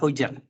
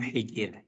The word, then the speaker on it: Hujr: taala hadfana aliibni hijrin Sebagian ulama membacanya Ali Ibnu hujr Bukan Ali Ibnu Hijir dan itulah yang masyhur yang terkenal Ali Ibnu hujar bahkan Al Imam alhafiz